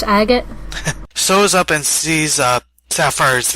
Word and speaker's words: Agate: I always want to say Agate. I know, it's spelled Agate, but it's pronounced Agate.